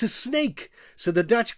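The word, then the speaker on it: Sneek: It's s nek, and we pronounce it also as snake.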